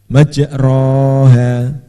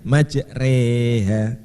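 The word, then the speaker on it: مجريها: Jadi bacanya majroha, majriha, jadi majreha, majreha, agak meringis. Ya. Bismillahi majreha wa mursaha. Seperti sore tapi agak meringis lagi.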